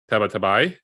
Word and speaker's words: Tabatabai: and we welcome for the first time Matt tabatabai did I pronounce that correctly you did that was pretty